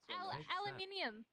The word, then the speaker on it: aluminium: Aluminium. Aluminium! Hey! I heard you're a cool Australian. Yes, g'day. Aluminium, by the way. Aluminium. Wait. No, I'll say it in American. How do you say it? Aluminum.